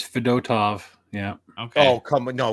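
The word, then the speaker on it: Fedotov: Uh is it Fedtov? Is that how you pronounce it? I always call him Fed. Yeah, it is Fedtov.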